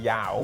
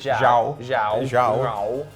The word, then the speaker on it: João: Firstly, let's not call him Yao. Whatever you pronounce it. Zhao. Well, no, it's just it's that J like Jose Mourinho because it's Portuguese, right?